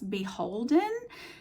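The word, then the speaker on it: BHLDN: It's B H L D N, which they pronounce Beholden. They just take all the vowels out.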